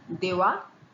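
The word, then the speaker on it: দেওয়া: you might encounter, but they are pronounced in one way only. Give is dewa, take is newa.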